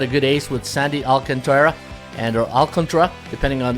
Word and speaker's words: Alcantara: and they got a good Ace with Sandy Alcantara and or alcantra depending on you it looks like Alcantara but uh it's pronounced Auckland truck Jesus lozardo b-plus Trevor Rogers another pitcher who's